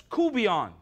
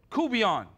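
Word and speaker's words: courtbouillon: It's coubillon. It's pronounced one word, coubillon.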